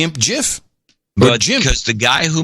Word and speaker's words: GIF: think was for CompuServe he calls it Jeff I understand he's the one who gets the designate how it's pronounced I mean it's just the way it is anyway so I